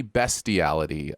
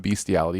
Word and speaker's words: bestiality: It is actually bestiality, not bestiality, which has always been. Is it really? Yeah, it's a very weird thing that word is pronounced that way.